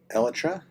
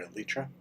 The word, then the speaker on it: elytra: So I think I'll run up get my elytra. Or if you prefer elytra or elitra. The elytra or elitra is how it should actually be pronounced is based on is named for the elytron.